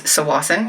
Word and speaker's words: Tsawwassen: The earthquake that just happened today was just off of Tsawwassen, but it is Tsawwassen, you don't pronounce the T, which is where I